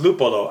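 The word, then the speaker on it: Luppolo: on to explain that lupolo, that's their brewery name, is pronounced lupolo. Ah, okay, there we go. Means hops in Italian.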